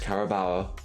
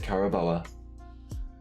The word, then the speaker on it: Carabao: the final of the caraba cup even though it's pronounced carabao I pronounce it Carabella because that was half of what I pronounced it and I never knew the difference first trophy within the